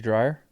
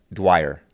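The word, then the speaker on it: Dwyer: Lindsay Dryer. Yes. Lindsay Dryer. Dwer. Dwer. Lindsay Dwer. That's who I ran with for a long time. I say everybody's name wrong.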